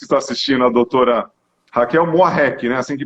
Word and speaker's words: Muarrek: Para todos que estão assistindo, a doutora Raquel Moarec, né? Assim que pronuncia.